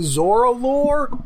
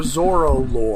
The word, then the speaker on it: Zorillor: It it's pronounced a couple. It's like I couldn't tell if they were saying zoralore or zoro.